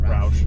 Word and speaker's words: Roush: roush cold air intake or roche how do you say it roush roush and then uh new